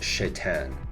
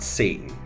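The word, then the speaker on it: Šatan: Love chatan Now thankfully his last name is pronounced chatan not Satan but on paper this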